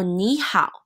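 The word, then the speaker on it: 你好: So ni hao. One thing I want to mention is that it's not ni hao. The way that you pronounce A and O together is similar to the te reo pronunciation, so it's ni hao.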